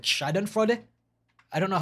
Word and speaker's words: Schadenfreude: people's suffering, especially when that person deserves, like Schadenfreude? I don't know how to speak German. Schadenfreude? Like yeah, I don't know how to pronounce it. Yeah, Schadenfreude. Yeah, Schadenfreude.